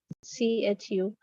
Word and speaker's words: chutzpah: The first one is Chutzpah, CHUTZPAH. CHUTZ. TZPAH. Chutzpah is how you pronounce that particular word.